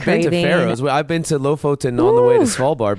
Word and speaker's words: Lofoten: Yeah, Lofoten.